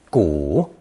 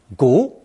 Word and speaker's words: 骨: This character is pronounced third tone, 骨, 骨, in most phrases, but second tone, 骨, when speaking colloquially about just plain bones.